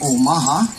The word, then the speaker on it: Omaha: And of course, a proper pronunciation would be Omaha.